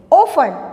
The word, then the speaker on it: often: ऑफन, देखिए इसकी spelling OFTEN। OFTEN, यहाँ पर टी साइलेंट है इसलिए हम इसका प्रोनाउंस कैसे करेंगे? ऑफन, OFTEN।